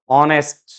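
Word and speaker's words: honest: इन सब में H silent है, एच की साउंड नहीं आ रही इसमें, सब में वोवल साउंड आ रही है। ऑनेस्ट, आवर, एयरएस, honourable, heirloom, honorarium, honorary job.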